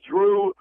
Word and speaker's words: Drew: They feel that Larry Drew, it rhymes with Hue and Lue.